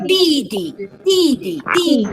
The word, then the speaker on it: 弟弟: 弟弟 is D-I fourth tone.